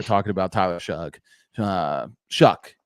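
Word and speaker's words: Shough: I want to talk about Tyler Shug. Uh because there are a lot of people they're gonna have to apologize for how they were talking about Tyler Shug. Uh Shuck actually is how we pronounce it.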